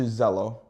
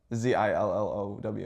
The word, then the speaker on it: Zillow: I went on to Zello to find any rentals.